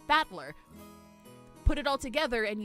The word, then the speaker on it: Battler: The kanji is made up of the characters for fight and person and it's pronounced battler.